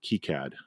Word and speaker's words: KiCad: source schematic program called Kad or kead I think kead is the appropriate way to pronounce it but I always pronounce it Kad because I'm American I guess and earlier